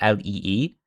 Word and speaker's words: Leigh: It's pronounced the same way as just like Leigh, Lee, but just has a bit of a funny spelling.